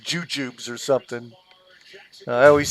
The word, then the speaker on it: Jujubes: size of dots yeah I pronounce them like jub jubs but they're like JJs like j u j u b e s Jujubes but everyone says jubjubs